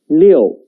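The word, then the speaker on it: 六: The pronunciation is leo.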